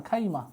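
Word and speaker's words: خيمة: আল খাইয়াম বা খাইমা এটাকে আমরা শুধুমাত্র খাইমা উচ্চারণটা বলতে পারেন খাইমা খাইমা তাহলে একটা হচ্ছে ফুজাইয়া একটা হচ্ছে খাইমা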